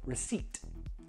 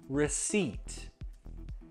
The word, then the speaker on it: receipt: No, the P, we don't pronounce it. Not receipt, no. We pronounce it receipt, receipt.